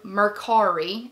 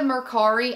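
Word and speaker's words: Mercari: I purchased it through merari I think that's how you pronounce it m e r c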